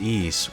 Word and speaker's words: Ys: Now you might be wondering, how on earth are the letters Y and S pronounced East?